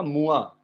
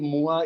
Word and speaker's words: mois: Now see, months का हो गया मुआ, MOI, मुआ is month.